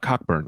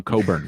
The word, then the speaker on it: Cockburn: went no i'm not cockburn i'm coburn we don't pronounce the ck you know like to